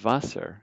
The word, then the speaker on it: Wasser: a F, and then water is Wasser, so you pronounce W like a V, almost like the Vassar College.